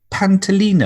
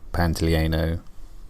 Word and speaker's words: Pantoliano: five number five John pant alene oh hi there future Matt here I'm you might just noticed I said that guy's name wrong his actual name is Joe Pantoliano thank you he's the